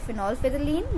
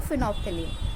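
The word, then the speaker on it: phenolphthalein: हमारा इंडिकेटर होता है वो होता है फिनोल्फिथलीन या फिर आप इसको बोल सकते हो फिनोफ्थलीन, ठीक है। जैसा आप प्रोनाउंस करना सही लगे आपको, आप वैसे प्रोनाउंस कर लेना।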